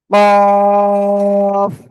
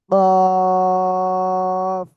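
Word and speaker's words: ق: কফ। জিহ্বার গোড়া তারপর আবার উপরে তালুর সাথে লাগিয়ে এই অক্ষরটা উচ্চারণ হবে কফ।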